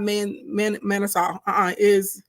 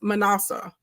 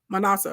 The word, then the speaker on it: Manasseh: It's not Manasseh. It's Manasseh. Manasseh is how you pronounce it.